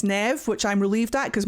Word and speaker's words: Neve: I thought her name was Neve, but it turns out it's Nev, which I'm relieved at because my character's called Neve.